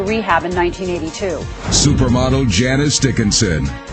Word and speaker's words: Dickinson: supermodel janice dickinson what am i it rhymes with rich you can call me